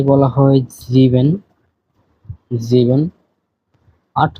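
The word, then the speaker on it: sieben: বলা হয় জেক্স জেক্স সাত কে বলা হয় জিভেন জিভেন আট কে বলা য় আ নয় কে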